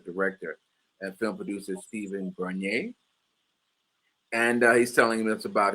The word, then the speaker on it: Bernier: Bernier, am I now pronouncing that name right? I use the French pronunciation Bernier, but Bernier Bernier, is fine. like Perrier, Bernier.